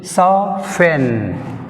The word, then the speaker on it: soften: So here correct pronunciation, soften. Soften, which is silent? T is silent. In soften word, which is silent? T is silent.